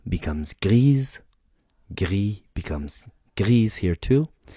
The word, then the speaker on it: gris: Gris becomes grise, gris becomes grise here too.